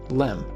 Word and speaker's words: LM: originally called the lunar Excursion module or just Lim eventually the word Excursion was dropped from the acronym but everyone still pronounced it the same LM it was a long process to get this